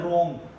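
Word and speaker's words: wrong: इसी तरह हमारे पास वर्ड है रॉन्ग, तो हम इसको रॉन्ग नहीं पढ़ते, रॉन्ग बनते हैं, रॉन्ग पढ़ते हैं।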